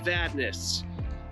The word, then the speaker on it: Vadnais: Go ahead and say Vadnais. How do you spell that?